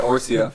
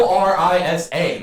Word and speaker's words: Orisa: I said it Orsia for a while. It's not even spelled like that. It's Yeah. Orisa.